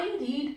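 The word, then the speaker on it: read: यहां पे हम प्रोनाउंसिएशन भी थोड़ा सा change, a book is रेड, रेड बाय, आई का मी हो जाएगा, a book is रेड बाय मी।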